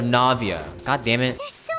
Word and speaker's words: Navia: Navia Navia is it I keep pronouncing it Nava instead of Navia God damn it there's